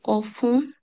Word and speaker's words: offrent: লিবের্তে, liberté que lui offrent অফখন les হবে না, কারণ আমরা জানি যে থার্ড পারসন প্লুরিয়ালে ও এনতে উচ্চারণ inter হয় না, হয় না, অফ, of বলা, les voyages solidaires.